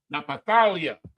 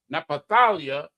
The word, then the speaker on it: Napatalia: And in the ancient, Na, Pa, Napatal, Ya. Napatalia. The Na, the Pa, the Tha, the La, and the Ya. Napatalia, my wrestling.